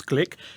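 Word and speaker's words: Glück: are pronouncing it correctly it looks like look but actually it's click she's 77 a new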